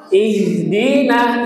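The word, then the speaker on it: اهْدِنَا: Ihdina. Ihdina jangan ih ih harus tebal Bapak Ibu.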